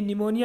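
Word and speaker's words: pneumonia: इसमें आप बच्चों ध्यान करना, इसमें पी साइलेंट है। ये निमोनिया एक बीमारी होती है ना, ठंड से लगती है, तो जुकाम या निमोनिया कहते हैं।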